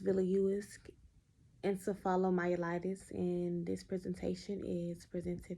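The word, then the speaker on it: Viliuisk encephalomyelitis: and some information on a very rare disease pronounced villius encephalomyelitis and this presentation is presented by me of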